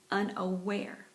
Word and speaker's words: unaware: okay we're number seven unaware unaware unaware okay and that one the accent is on the last syllable uh nowhere that means